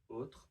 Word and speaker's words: autre: Also with autre, we can drop the RE sound.